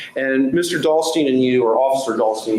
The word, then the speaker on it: Dahlstein: it, that morning, your partner officer was Max Dahlstrom, is that right? Dahlstein, yes. Dahlstein, excuse me. And, Your Honor, let me spell that for Cindy, may I?